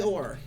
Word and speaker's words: Kor: Kor. Oh. Kor. Much like there's like Shunkor and Korathor and all those other places that have core in them.